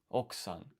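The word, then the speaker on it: 奥さん: Okusan. Or is it okusan? 奥さん、 Okusan. So the U is silent.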